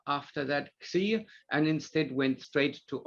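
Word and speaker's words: Ξ: Now, Xi is pronounced as a KS sound, such as the X in English, such as the X in fox or box or socks or fix or taxi, and not as in boss or loss.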